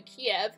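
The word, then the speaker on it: Kiev: of the same word some sources refer to ke KY IV which is the Ukrainian spelling and others to Kev K IE V the Russian spelling so I'll be using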